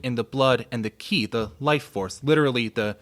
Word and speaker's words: qi: the blood and the qi, the life force, literally the steam rising from the rice. That's the translation. Yeah, some folks pronounce it qi as well, so either way.